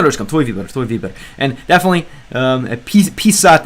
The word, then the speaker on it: писать: And definitely, писать is a word I made sure to learn the pronunciation of, because if you say писать, это что-то ранее, right? Писать and писать, это ранее слово, right?